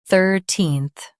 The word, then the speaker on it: thirteenth: 13th Now, read the syllables shown on the screen naturally. thir teen th 13th Emphasize thir and soften teen-th. thir teen th 13th Emphasize thir and soften teen-th.